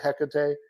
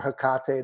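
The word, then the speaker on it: Hecate: that type of work with heate or hekate depending on how you want to pronounce it uh my opinion on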